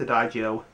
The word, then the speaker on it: Adagio: it's if drawing a doio I think I'm pronouncing this right I think it's a doio a d a g i o anyway that's